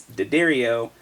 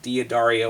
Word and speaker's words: D'Addario: looked it up and it is in fact phonetically pronounced so it's daddario and not da dario or whatever the heck